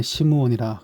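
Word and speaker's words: 시므온: 시몬이라고 나와 있고 그다음에 그걸 히브리어 식으로 발음하면 시무온이라 그렇게 나와 있습니다.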